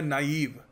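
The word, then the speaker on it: naive: क्या बोल देते हैं इसको प्रस करने का सही तरीका है नाइव ठीक है तो नाइव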